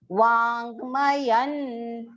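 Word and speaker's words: वाङ्मयम्: Chaiva Vangmayan. Va long, and you can see partial nasal nasal alphabet is joined to complete ma.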